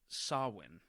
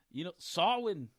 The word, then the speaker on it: Samhain: If y'all look at it, it looks like it's spelled Samain. It's Samhain. But it's Celtic, so I guess the pronunciation, you get that little Scottish, Samhain.